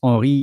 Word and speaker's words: Henri: Merci Henry Latimer, if I pronounce well your first name and last name, because Henry in English is Henri in French. We don't pronounce the H.